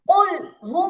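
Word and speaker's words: قل: রাহিম রাহিম আচ্ছা কুলহু আল্লাহু আহাদ আচ্ছা প্রথমত শব্দটা হচ্ছে কুল কেমন কফ লাম পেশ কুল কফে কুল ওকে এবার এবার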